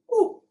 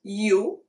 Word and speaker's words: u: U is oo. It's not you. It's oo. Once you get this 5 vowels down under your belt, you're ready to start.